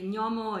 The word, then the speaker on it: gnomo: So how to pronounce the sound n? Again, put the tip of the tongue behind your teeth in the bottom of the mouth. N. The dorsum of your tongue is touching your palate, but the air does